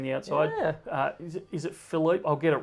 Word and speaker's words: Philippe: I want to say it's Philippe the Sixth, but I think I've got his name wrong. There you go. Spot on. Philippe, it is.